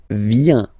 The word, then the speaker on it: vient: Il, elle, vient. Final T not pronounced.